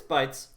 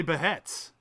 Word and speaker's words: Bheits: Um, it's bites. Um, I said however you want to pronounce it. So if I want to say beheads, I'm gonna say bites is the way that you would want to pronounce it. What if I want to say beets? Then you'd be wrong and you shouldn't do that.